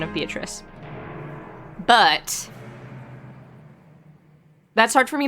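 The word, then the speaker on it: Beatrice: um her name is pronounced in the Italian pronunciation of beatric but that's hard for me to say for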